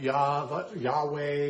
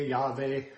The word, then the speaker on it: Yahweh: But we now know that there's no J sound in the Hebrew, and therefore most people say, well, it should be pronounced somewhere like Yahweh, Yahweh, and different sacred names